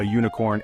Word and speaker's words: unicorn: like unicorn and ukulele these words start with the letter U but they sound like they begin with u even though they start with U the sound they make is more like a u which is a consonant sound so we say a